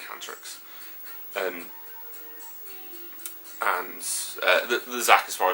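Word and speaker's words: Hantarex: And I know Phoenix looked really, really nice on a 19-inch Hantorix, or Hantrix, however you want to pronounce it. It's probably Hantrix.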